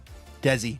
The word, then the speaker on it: Desi: Uh Desi, not Danny. Oh my god, it's Desi.